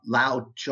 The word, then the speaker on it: Lao Tzu: I have to look it up every time and see how it's pronounced. But Lao Tzu, I believe is how it's pronounced.